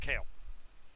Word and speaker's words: Kael: But it's pronounced Kale.